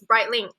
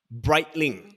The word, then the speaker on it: Breitling: Is it Breitling? Close enough. It's Breitling. Breitling. Yes. Okay. So it's like bright and dark lah.